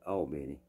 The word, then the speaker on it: Albany: Now, it's spelled like Albany, New York, but if you're from Georgia, you call it Albany. That's what they call it.